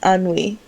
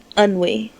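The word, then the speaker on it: ennui: 33 that's fine uni no it's anwe anwe unwe o n u w i and that is wrong AR do you want to give it another go no how do you spell it it's e n n u i it means is to bother boredom or weariness an an it's an it's a French word it means to bother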